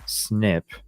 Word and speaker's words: SNP: variable positions are called single nucleotide polymorphisms SNP pronounced snip the direct to Consumer